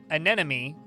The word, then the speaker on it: anemone: and my mom saying that anemone is pronounced like NME, but you say it really quickly.